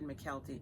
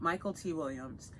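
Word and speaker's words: Michael K. Williams: Gabriel, I've pronounced this man's name wrong for years. It's Michael T. Williams. I've always said McKelty, I apologize, but Michael T. Williams.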